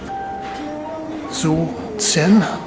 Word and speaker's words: Xu Zhen: and we will Stroh through movement field by so sin that's the way you pronounce it well I was initially snagged by